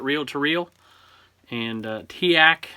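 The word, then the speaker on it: TEAC: to reel and uh tiak somebody told me that's how you pronounce it i always said teak so y'all tell me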